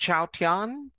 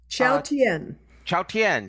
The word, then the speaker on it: Chautauqua: She is part of the Cathy Fink, Marcy Marxer, and I believe it's pronounced Chautauqua. Chautauqua. Chautauqua Trio.